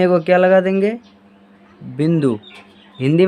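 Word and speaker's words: ب: ठीक है, तो इसे हम क्या बोलते हैं, बे। और इसका उच्चारण क्या हो जाएगा, बा।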